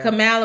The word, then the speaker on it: Kamala: It's Kamala. I keep thinking it's Pamela. We say it wrong.